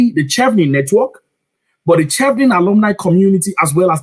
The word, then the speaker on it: Chevening: It's like chi from cheese. Chevening, right? Chevening as in cheese, right?